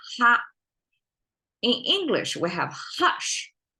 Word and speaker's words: 哈: Okay, ha is as you can see in English, in Chinese, we pronounce as ha.